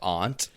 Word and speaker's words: aunt: A N T like the insect and A H N T. Both pronunciations A H N T? Like aunt. That's how you would spell that. Phonetic spelling. Both pronunciations are given in that order in the American Heritage Dictionary of the English language and Merriam-Webster's Collegiate Dictionary.